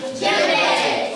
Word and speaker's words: djembe: So the D must be silent because it says djembe, but it doesn't.